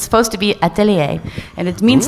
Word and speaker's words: Atelier: it's a French word it's supposed to be atellier and it means like Workshop I like that